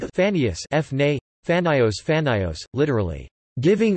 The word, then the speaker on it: Phanaeus: Like Phanius, Phne, Phanios, Phanios, literally giving or bringing light.